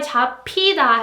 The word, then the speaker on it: 잡히다: So that's why 잡히다 has to be pronounced like 잡히다, 잡히다, the p sound, because piut is followed by hiut.